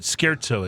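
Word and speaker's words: Scherzo: I was saying, but Skzo is how you say.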